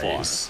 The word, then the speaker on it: Arraez: Arraez, that's how you say his name.